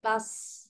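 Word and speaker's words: plus: হ্যাঁ আ এটা কি প্লাস প্লাস না, ওটাকে বলে প্লু, এস সাইলেন্ট, হ্যাঁ প্লু প্লু, হ্যাঁ আপ্লুতাখ কি বলতে হবে, আপ্লুতাখ, lo kuch komos আপ্লুতাখ, এটা একটা এক্সপ্রেশন, হ্যাঁ এক্সপ্রেশন।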